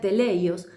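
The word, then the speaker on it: τέλειος: Y allí te hago recordar la palabra perfecto, que la estudiamos en el capítulo 1, que viene de una palabra griega que se pronuncia teleios y que es la palabra maduro, completo.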